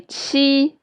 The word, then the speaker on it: qi: and when you say qi, your lips are spread wide. So let's try it. Qi, and remember, your vocal cords will be vibrate when you pronounce qi.